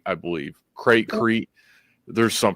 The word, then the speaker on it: Crete: It was called Crate, I believe. Crete. There's some pronunciation to it.